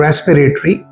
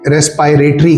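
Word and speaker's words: respiratory: जिसे हम कहते हैं रेस्पिरेटरी, इसे अक्सर टीचर मिस प्रोनाउंस करते हैं, रेस्पायरेटरी कहते हैं। तो रेस्पायरेटरी करेक्ट प्रोनंसिएशन नहीं है बल्कि सही प्रोनंसिएशन है रेस्पिरेटरी।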